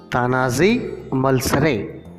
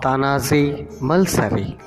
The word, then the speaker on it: Tanaji Malusare: Unit 4 Part C Tanazi Malsare or Tanazi Malsari. As it is a noun, we can pronounce according to our regional dialect.